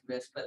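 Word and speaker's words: VSEPR: But pronounce it as Vesper theory. Okay, so it's a little bit different ordering of the letters. So pronounced as Vesper theory, valence shell electron pair repulsion theory.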